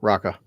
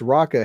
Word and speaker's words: Raka: The Raka, orangutan right there, Raka.